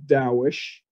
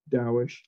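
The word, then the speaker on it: Taoish: I have a website called dowish t-a-o-i-s-h you know like Jewish daoish but I spelled it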